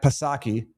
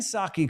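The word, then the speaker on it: Psaki: And I could acknowledge that Jen Circleback Pasaki, that's not how you pronounce her name, is Saki.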